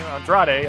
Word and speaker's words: Andrade: andre ello el idalo excuse me for that pronunciation andrade i should say and then uh jeff jarrett